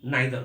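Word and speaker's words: neither: जो बहुत कंफ्यूजिंग है, नाइदर ईदर, EITHER, ईदर या आइदर भी बोलते हैं लोग, नाइदर भी बोलते हैं, नीदर भी बोलते हैं। हमारे देश में लोग अपनी सहूलियत के हिसाब से, लेकिन आइदर होता है और नाइदर होता है, ये बात आपको याद रखना है।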